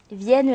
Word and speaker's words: vienne: Vienne la nuit, sonne l'heure. Les 2 voyelles IE du mot vienne se prononcent ensemble et sont rattachées à la même syllabe.